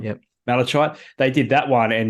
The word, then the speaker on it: malachite: Malachite, yep. Malachite.